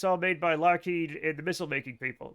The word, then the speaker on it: Lockheed: So, uh he changed it he changed it to be Lockheed so that when people said it they would pronounce it Lockheed as pronounced by a Scotsman.